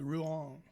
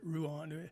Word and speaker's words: Rouen: is real close to Rouen. I think that's how you say it, Rouen. Somebody knows how to speak French would be laughing at me, and my daughter would also.